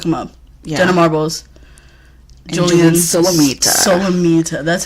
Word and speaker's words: Julian Solomita: Julian Solomita.